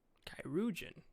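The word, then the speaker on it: chirurgeon: Kairoujan? That's how you pronounce it.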